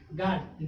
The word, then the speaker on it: guard: गार्ड, GUARD, यू क्या हो गया, साइलेंट।